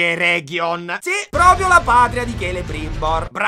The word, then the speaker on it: Eregion: Andiamo verso sud, attraversiamo la regione E. Si pronuncia Eregion.